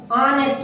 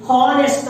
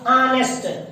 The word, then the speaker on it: honest: ಆನೆಸ್ಟ್ ಅಂತೀವಿ, ಹಾನೆಸ್ಟ್ ಅಲ್ಲ, ಆನೆಸ್ಟ್.